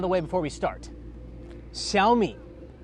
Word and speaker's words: Xiaomi: way before we start Shi it's pronounced SHI I'm not going to make you learn the tones for the Chinese but don't call it zi or zami or xiaomai it's called Shi all right let's talk